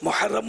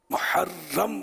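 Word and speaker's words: محرّم: محرم کون بولے گا. راہ مشدد ہے. خیر اگر ہا حلق سے نہ بھی نکالی تو کم از کم محرم ہی بولے. لیکن نہیں بولتے صحیح تلفظ.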